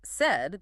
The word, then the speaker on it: said: And then there is the word said, the past tense of say. Phonetically looking at it spelled s a i d, it looks like it should rhyme with paid or laid, but it doesn't at all.